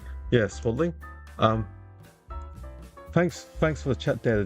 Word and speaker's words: Swadling: I'm not good at pronouncing. Yeah, Swadling.